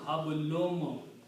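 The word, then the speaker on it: حبل: while we are reading this thing, you have hablun and you have a min. So the rule is that of tajweed that because of this meme, this noon will be pronounced as a meme again. So hablum, hablum, and so this word is hablun.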